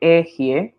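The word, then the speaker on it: אֶהְיֶה: ok, voy a explicarlo, se lee esta Aleph, esta letra Ale, estos tres puntitos es una E, y esta es otra E con tres puntitos. E, Ji, esta es una especie de J suave, Jie, ok, entonces esa pronunciación,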